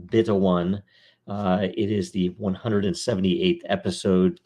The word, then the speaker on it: 0xb1: This is episode 0xb1, pronounced beta 1.